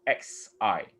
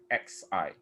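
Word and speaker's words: 嘻: It's called XI. XI. Different from SI. It's XI.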